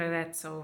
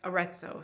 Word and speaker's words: Arezzo: which is near Arezzo, which is Arezzo. Sorry, I'm trying to say things with an American accent because it sounds so unbelievably pretentious to pronounce things with the Italian accent. It's genuinely not pretentious. It's just that my brain is thinking in Italian when I say Italian names.